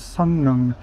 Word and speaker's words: Seolleung: They pronounce it as two N's.